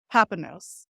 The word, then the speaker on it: Papanos: Papanos.